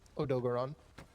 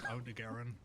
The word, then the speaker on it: Odogaron: It's Odogaron. Is that how you pronounce Paisley, it? did you have a Yeah. stroke? I always said Odegaron.